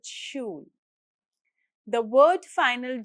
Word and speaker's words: Schulranzen: German SCH always sounds like English sh. So Schere is Schere and Schulranzen starts with Schul.